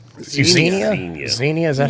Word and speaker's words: Xenia: It's Xenia.